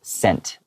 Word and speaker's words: scent: It's pronounced the same as this word, but it just doesn't have the S in the beginning.